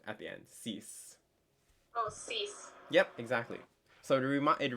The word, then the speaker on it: six: it looks like six it's spelled like six it's not pronounced six it's cease so just like any